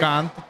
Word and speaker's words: Shrikant: Am I pronouncing that right? Shrikant, but Shrikant.